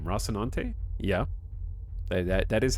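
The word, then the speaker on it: Rocinante: Mission take a shot is that how you say the ship name rossinante yeah that that is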